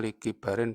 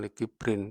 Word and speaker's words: likibarin: krono tuo wis nini-nini Jadi bacanya likibarin bukan likibrin, kalau kibrin itu sombong artine likibarin krono tuo